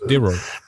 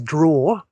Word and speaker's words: Deror: Is it Doro or Deror, right? Deror. Yeah. I mean, I personally pronounce it sort of quite quickly as drawer. Drawer, there you go. All right. Yeah, but I understand that perhaps it could be sort of pronounced in many different ways.